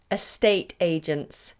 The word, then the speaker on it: estate agents: Can you pronounce estate agents? Estate agents. What we tend to do is put the T of estate into the agents.